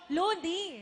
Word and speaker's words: Loonie: Looney. Rhymes with Luigi. Luigi ba? Looney.